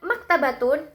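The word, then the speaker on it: مكتبة: Ketika kita melafalkan kalimat maktabatun, kata mak di sini memiliki pengucapan yang lebih berat atau lebih menonjol. Maka dari itu, tekanan maktabatun di sini jatuh pada suku kata mak.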